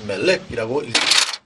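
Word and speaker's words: מֶלֶךְ: 이 단어는 모음이 쉐골 두 개가 쓰여서 멜렉이라고 읽습니다.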